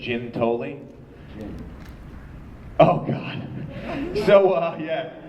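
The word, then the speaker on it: Giuntoli: be like fella uh I'm Michele we don't pronounce our name the right way in my family we say it's Jim tolling Oh God so uh yeah this is a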